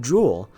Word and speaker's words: Jool: things like treasure, and because Jool is pronounced Jool, like the Jool, like a diamond is what I'm trying to say.